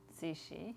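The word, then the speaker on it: Cixi: It's pronounced Sichi. Sishi.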